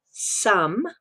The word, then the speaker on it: Xumm: 24 hours ago the live open beta called sum which is how it is pronounced so I understand from a video of